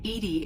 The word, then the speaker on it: EDI: why are you named edie edie is the phonetic pronunciation of e-d-i that is are you